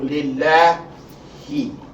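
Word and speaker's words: لِلَّهِ: So your pronunciation of the lamb here, the second lamb, not the first lamb. The lamb of concern is the second lamb, not the first lamb. Is, again, la instead of law.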